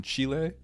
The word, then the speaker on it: Chile: Chile. That's how you say it, right? Chile. He's He's from Chile. Nice shot. Chile. like the chili I make back at home.